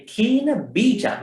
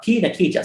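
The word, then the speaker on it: khīṇabīja: The kina bija, not kina kija. Some people say kina kija.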